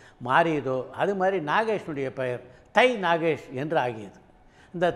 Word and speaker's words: தை: அப்படின்றதை ஆங்கிலத்தில் உச்சரிக்கும் போது ஆங்கிலத்தில் எழுதும்போதும் எப்படி எழுதுவாங்க டிச் ஏ ஐ அப்படின்னு எழுதுவாங்க அதை சிலர் தாய் என்று படிக்க ஆரம்பிச்சாங்க அதிலிருந்து தான் தை நாகேஷ் போய் தாய் நாகேஷ் ஆனார் நாகேஷ் இப்படித்தான் அவருடைய பெயரிலே